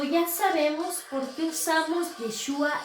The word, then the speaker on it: Yeshua: Yeshua se escribe así, Y-E-S-H-U-A, Yeshua.